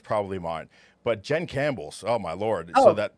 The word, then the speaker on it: Campbell: one n and it's camp belle i didn't know there was a p in campbell until i got married right you know i was like the p is silent apparently and then if they